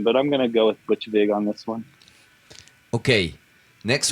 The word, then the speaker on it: Butch Vig: Okay, next one is what you prefer best, Steve Albini or Butch Big? Who's Butch Big? Butch Vig? Yeah. Butch Vig? Butch Vig. Yeah. Sorry for my bad pronunciation. It's Butch Vig.